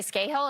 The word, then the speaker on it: Scahill: It's the guys from the Intercept, so Ryan Grimm and Jeremy Scahill, is that how you pronounce it?